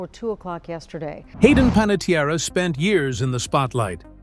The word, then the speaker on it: Panettiere: The family pronounced the name Panettiere.